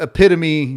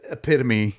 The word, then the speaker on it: epitome: william v sorry but epitome does is said epitome and not epitome does have four syllables look all right tonight